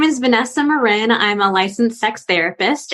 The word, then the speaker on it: Marin: with me oh and my last name is pronounced Marin that most people say Marin okay Marin yeah lived